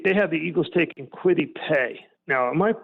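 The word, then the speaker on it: Kwity Paye: have him take they have the eagles taking quitty pay now am i pronouncing that correctly i think i am yep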